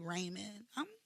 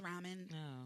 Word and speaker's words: ramen: I say Raymond we say I know it's pronounced ramen I know it's ramen but you can't you